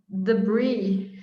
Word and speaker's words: debris: The IS is just pronounced an E.